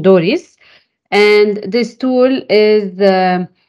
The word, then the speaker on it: DORIS: selection tool which we what we call for easier pronunciation Doris and this tool is